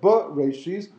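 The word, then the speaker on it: ראשית: So Reshis is the proper pronunciation.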